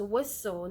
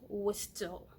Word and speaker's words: whistle: flesh and blood and it is whistle not was still oh there you go